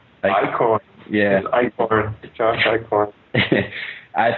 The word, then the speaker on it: Eichhorn: Is that how you pronounce his last name? Eichhorn.